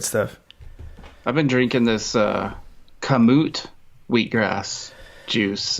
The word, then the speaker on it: Kamut: Kamut. Two things. First of all, there's like, I've wondered that. How do you say that? Kamut?